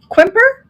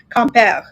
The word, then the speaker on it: Quimper: Quimper. People say quimper, but it's actually comp.